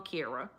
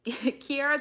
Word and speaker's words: Ciara: I keep messing this up because it's spelled like Ciara. It's Ciara. That's Ciara. That ain't no doggone Kira.